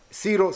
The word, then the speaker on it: Ciro: Así ha dicho, así ha dicho Ciro, rey de Persia. Fíjense bien cómo Siro se pronuncia.